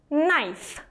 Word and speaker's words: knife: из патэс swiss knife обратите внимание на это слово слово нож и в нем 1 кей не читается я произнесла виз knife и так будет со всеми словами которые начинаются на кей и.н. кей считаться не будет любить up to